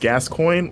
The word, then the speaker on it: Gascoigne: That's Michael Lunt does say it's pronounced Gascoigne, like the footballer.